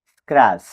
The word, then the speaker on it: scratch: SCRATCH স্ক্র্যাচ অর্থ আঁচড়। T+CH কিছু শব্দে টি সাইলেন্ট।